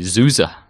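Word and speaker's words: SUSE: and system development so how do you pronounce souza graham um i don't i say susan souza yeah it's really zuza zuza zusa then given the soft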